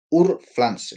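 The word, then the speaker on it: Urpflanze: van a disculparme alemán Ur Flans se escribe u r p f l a n ze que es la forma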